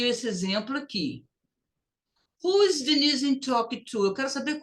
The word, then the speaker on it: Denise: Denise. Corta o E, não pronuncia. Denise, depois do I, aqui geralmente dá um som quase dizer.